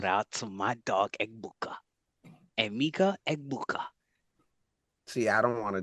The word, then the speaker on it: Emeka Egbuka: Emeka Egbuka. See, I don't want to just disrespect that name by messing it up, bro. You got that. Thank you I'm for. just pronouncing it how with every letter.